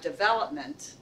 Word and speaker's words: development: this it's English we have developers we have development and I think some it so the accidents on the second syllable and I think sometimes we from other